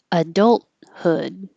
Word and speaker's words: adulthood: the humidity adolescence adolescence adulthood you can say the t adulthood or not say the t hold the t adult hood adulthood and the hood by itself